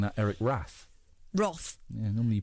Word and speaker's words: Roth: movie well one of the worst screenwriter Eric Roth who I believe also responsible for A Star is Born I'm surprised you're not pronouncing that Eric wrath Roth yeah nor r o yeah normally you